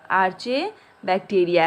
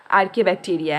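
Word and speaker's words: Archaebacteria: क्या है, आर्चे बैक्टीरिया है, ठीक है। आर्चे बोलो या फिर आर्के बैक्टीरिया बोल सकते हो, ठीक है ना, इसका प्रोनाउंसिएशन थोड़ा हटके होता है। तो क्या है, आर्के बैक्टीरिया है।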